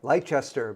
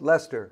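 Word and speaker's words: Leicester: little town of Lester it looks like leester but it's pronounced Lester by the folks down there and yeah uh Good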